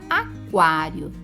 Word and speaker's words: aquário: Na palavra aquário, temos dígrafo? Onde está? Não temos, porque neste caso o QU não é dígrafo, porque o U é pronunciado. Aquário. Repolho.